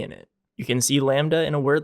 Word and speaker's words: Lambda: an L as well this letter is really cool cuz it has a silent B in it you can see Lambda in a word like